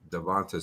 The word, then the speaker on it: DeVonta: devonte adams oh it's devon smith i've been mispronouncing his name this whole time devonta smith devonta smith jalen devonte henry um jerry